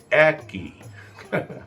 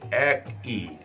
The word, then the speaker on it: একই: হয়ে গেছে বা সেটাই নিয়ম হয়ে গেছে এটার উচ্চারণ হবে গ্রীশব গ্রীষ্ম না গৃশ্য গৃশব একই আমরা অধিকাংশ লোকে একই বলি একই না এক ই একই আজকে এ পর্যন্তই ভালো থাকবেন ভালো রাখবেন